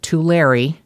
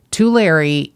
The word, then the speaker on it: Tulare: But I understand that Tulare, which just kills me to pronounce it this way, Tulare is in the Central Valley, not the Central Coast.